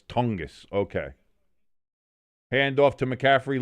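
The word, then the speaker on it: Tonges: Irish says it's pronounced tongis. Okay, cuz I look at the first thing I want to say is tongues. I want go tongues. But it's tongus.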